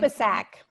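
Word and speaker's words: Subisak: Can you pronounce her last name? Subasak.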